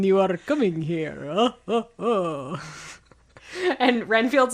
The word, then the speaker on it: Renfield: the ship and you're asking why we need Renfeld? I think Renfield.